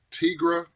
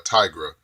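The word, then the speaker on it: Tigra: 18 number 19 I'm not sure if you pronounce her name Tigre or a Tygra I hear it pronounced both ways but definitely love that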